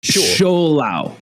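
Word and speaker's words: Shou-Lao: But Chinese has like tones on it, so there's like an accent.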